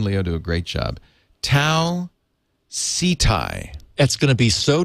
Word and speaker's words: Tau Ceti: let our listeners know i have always pronounced it tau city why did that come up how everyone pronounces it i mean i think garrett jerry pornell pronounces it tau ceti and i guess we're all wrong it's the closest sun-like